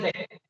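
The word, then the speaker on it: deque: From the double D first letter, from the ended first letter E, from the Q, we took the first 1, 2, 3 letters. We call that as a deck.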